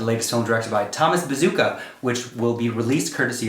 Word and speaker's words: Bezucha: film directed by thomas bazooka which will be released courtesy of focus features november 6th 2020 is his name spelled like a bazooka no it's spelled b-z-u-c-h-a and you are